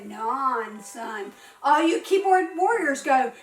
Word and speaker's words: Onson: It shouldn't say Onson. It should say non-son.